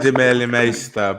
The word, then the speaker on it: Demeulemeester: It's Demeulemeester, but no one actually says that. So it's like, Demeulemeester. I'm never saying that. I just copied the way Drew says it.